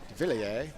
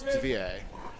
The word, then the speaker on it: Devilliers: I know some people commonly call him Devilliers. He told me it was Devilliers.